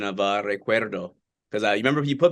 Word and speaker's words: recuerdo: By the way, how was my pronunciation of Recuerdo? Because you remember you put me on the spot a few years ago at a press conference. You had me pronounce with the rolled R.